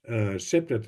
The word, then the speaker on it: CPTED: In most continents, CPTED is well known, pronounced as CPTED.